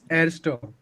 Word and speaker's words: erster: is erster, Arsta. Okay. erster. Okay, which is eins. Okay. So pronunciation also different.